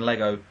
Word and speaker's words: Lego: I was talking about, because they call it Legos. Lego. They don't pronounce it. The brand it. Is called Lego. Yeah, but they say, well, they knew what I was talking about, but they say, I'm going to play with some Legos.